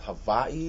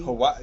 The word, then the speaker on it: Hawaii: And if I remember correctly, I think is it pronounced Hawaii? Hawaii. Yeah, there's if you live there. like in between a V and a W.